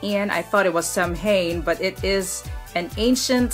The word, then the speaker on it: Samhain: It is spelled as S-A-M-H-A-I-N. I thought it was Samhain, but it is an ancient Celtic celebration, something like that.